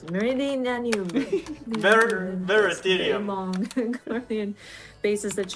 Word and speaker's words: Meridianum: And then of course, the Praetorium and the Castrum Meridian, sorry, I can't pronounce it. Meridianum.